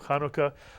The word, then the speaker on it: Hanukkah: Kia or the menorah eight consecutive nights of Hanukkah but the word Hanukkah actually means dedication since